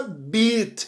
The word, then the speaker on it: bit: Eu não pronunciei o E, eu falei bite, mas se eu tirar o E, vai ficar B-I-T, e aí a pronúncia vira beat.